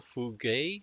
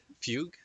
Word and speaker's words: Fugue: but here we go final fugay fuj I don't know how you pronounce it that's going to be Fugue okay Fugue these Zone in is going